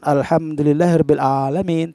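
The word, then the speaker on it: الحمد لله رب العالمين: kita membaca ngomongin dengan huruf a bukan bukan alhamdulillahirobbilalamin tapi oleh main-main koin itu sangat jelas hurufnya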